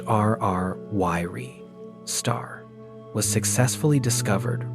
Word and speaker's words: RR Lyrae: In 2016, for the very first time, a specific type of extremely ancient variable star known as an RR Lay, pronounced RR Yiri, star was successfully discovered right in the core of the Milky Way.